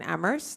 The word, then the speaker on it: Amherst: be essential the only that only the H is silent in ammer we are a vocal